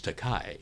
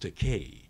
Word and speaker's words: Takei: People want to give the Germanic pronunciation, like Einstein. Right. He called me George Takei. Right. And so I said, well, it's pronounced Takei.